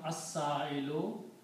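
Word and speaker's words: السائل: before that, it becomes as-sa'ilu. Al means the. So the person who is asking is as-sa'ilu. Because when you put al, it becomes one dhamma. And you pronounce this not al but as. As-sa'ilu.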